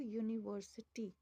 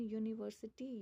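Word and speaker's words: university: Example a बॉय अ कैट अ पेन बट अ यूनिवर्सिटी बॉय कैट पेन बी सी पी ये सभी consonant हैं। लेकिन यूनिवर्सिटी यू से start हो रहा है। लेकिन आवाज य की आ रही है।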